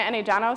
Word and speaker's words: Enejano: Nigerian last name is not actually that hard to pronounce. It's pronounced Enejano.